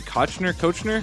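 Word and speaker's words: Koechner: How do you pronounce his name? Kochner.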